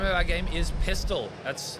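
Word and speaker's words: Pistil: The name of our game is Pistol. That's spelled P-I-S-T-I-L, not like the gun.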